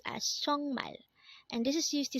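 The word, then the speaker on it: 정말: sorry next word is chongmal again this is pronounced as chongmal and this is used to say really or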